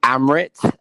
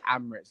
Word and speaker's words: Amarath: Yeah, so it's actually Amarath. My mum just butchered the name.